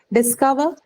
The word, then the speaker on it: discover: Discover, It's a discover. verb, ma'am. So Second syllable. second syllable should be the stress.